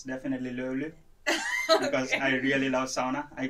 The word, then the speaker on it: löyly: just löyly. It's so difficult for people to pronounce.